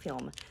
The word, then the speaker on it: phlegm: So far we just got the white and the puke and the phlegm. That's how you pronounce film.